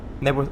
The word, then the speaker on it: Knebworth: Knebworth is the correct pronunciation.